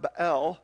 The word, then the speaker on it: Baal: She wants them to follow the god Baal, which we just call Bel because, I mean, English people get to pronounce words any way they want because everybody speaks our